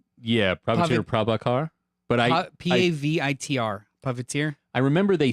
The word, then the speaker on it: Pavitr: Puppeteer. Yeah, Prabhakar Prabhakar. But I Pavitr.